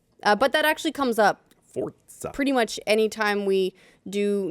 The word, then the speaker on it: Forza: So, yeah, that's why it's pronounced with a T. But that actually comes up Forza.